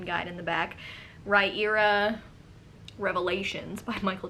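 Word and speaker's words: Riyria: era i can finally say it there's a pronunciation guide in the back raira revelations by michael j sullivan um i really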